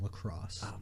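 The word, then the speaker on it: La Crosse: the University of wisconsin-la crotch correct except it's pronounced lacrosse I was not my thing trouble it's tough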